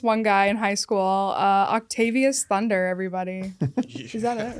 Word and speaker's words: Octavius Thunder: Octavius Thunder, everybody.